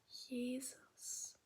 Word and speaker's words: Jesus: the German pronunciation is Jesus had to wear it a little bit smaller. The writing stays the same, but it's pronounced differently from Jesus G to Jesus.